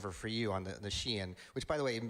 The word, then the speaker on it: Shein: you the other day, I had always thought it was Shine. So, I'm glad I'm glad I finally learned it was Shein.